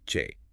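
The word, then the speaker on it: བྱེད: If I want to say to do or to make in a casual colloquial setting, I use the verb che, pronounced che.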